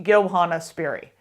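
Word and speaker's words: Johanna Spyri: And the audiobook has actually taught me that it's pronounced Johanna. So, yeah, that her name is pronounced Johanna Sperry.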